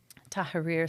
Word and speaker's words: Tahrir: So this 19-year-old boy riding his bike to Liberation Square, which is in Iraq, Baghdad, Tahrir Square is how we pronounce it in Arabic, was my father.